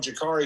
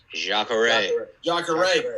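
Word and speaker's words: Jacaré: Fighting, I'm going to get his first name wrong, Jakari Souza. 26. Jacare.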